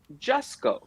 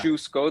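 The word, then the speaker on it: Jusko: conversation with Joe that his last name is pronounced just go not juice go the way I always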